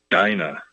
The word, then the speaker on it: Dinah: I hope that's the right pronunciation, but it should be fair. The spelling is exactly the same as a name that's common in Ireland. Maybe it's pronounced Dina. In any case, it sounds a lot like dinner time.